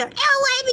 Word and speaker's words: Elay: My name is LA, pronounced like LA, like the city I'm not from there, but I'm breezy.